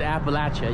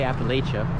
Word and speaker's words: Appalachia: we are in Appalachia which locals tell me you need to pronounce it Appalachia you can't say Appalachia wasn't expecting the architecture